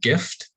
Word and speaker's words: GIF: to introduce this because i always think i'm going to pronounce the word in a way that will make it sound like the word gift as in a present but it is the word gif as in the digital file in the house from